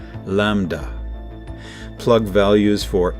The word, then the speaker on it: lambda: This acceleration appears to be driven by the repulsive energy of space itself, so-called dark energy, which is represented by the Greek letter A, pronounced lambda.